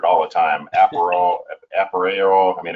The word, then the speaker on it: Appareo: So yeah, Latin to appear, and in Aparrio, it's a tricky name. We get, it gets butchered all the time. Aparrio.